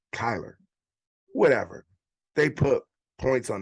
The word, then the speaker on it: Kyler: kyler kyler you know they say his name so fast sometime i hear tyler but it's kyler whatever they put points